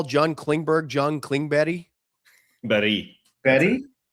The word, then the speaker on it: Klingberg: Luds, do you think you have it in you to call John Klingberg John Klingberry? Berry? Berry? That's how you say it in Swedish apparently is Klingberry. There's no G.